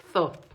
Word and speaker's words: Thoth: Thoth, así se pronuncia.